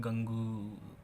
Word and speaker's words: gangue: अब इसको कोई बच्चे बोलेंगे गंगू, है ना, गंगू ही बोलेंगे कोई। भाई देखो, मैंने पहले ही बताया, अपने अपनी प्रोनाउंसिएशन बनाओ।